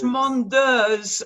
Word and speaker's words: Mondeuse: And it is Mondeurs, and I can only just think of the state of Jersey, and if you think of the in Jersey, it's Mondeurs.